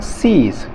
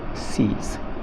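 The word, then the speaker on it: siege: ई, ये कहलाएगा सीज, इसमें ई की ध्वनि आएगी, ई का उच्चारण आएगा दीर्घ में, इसको बोलेंगे सीज, क्योंकि आई ई है, आई ई में दीर्घ उच्चारण होता है, ई की मात्रा आ गई दीर्घ, इस तरह से सीज।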